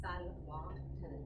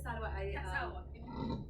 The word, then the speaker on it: Salwa: It's pronounced Salwa. Tend to kick it out on the second half. My name is Salwa.